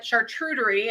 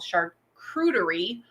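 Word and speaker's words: charcuterie: good one um like i call it chartreutery and then of course you when you research all this stuff it's called shark creedery um it doesn't look anything like it's spelled but uh that's okay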